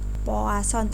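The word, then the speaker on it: Poisson: didistribusikan dengan istrinya sepuas on ya ini Sorry poasan tulisannya foison Tapi bacanya floats on the Hai banyaknya antrian jadi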